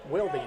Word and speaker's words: Wildy: It was right in bound to Griffin Wildy anyway. We've gotten a correction on that pronunciation. Wildy, not Wild.